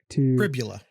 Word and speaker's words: Pribula: So we're going to be looking at both Drew Aller and Bo Pribula as well Pribula. to get to know them here. So I believe it rhymes with a lot of us know about Drew Aller already.